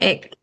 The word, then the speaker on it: ache: So don't remember that it is pronounced egg. Egg.